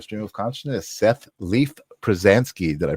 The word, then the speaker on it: Pruzansky: to the live stream of Consciousness Seth Leaf pransky did I pronounce that right you did strangely enough so